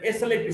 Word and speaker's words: slip: S-L-E-E-P, sleep, the vowel sound is little longer, and S-L-I-P, slip, the vowel sound is shorter.